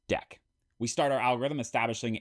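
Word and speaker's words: deque: For this, it is named a D EQ U which is pronounced deck.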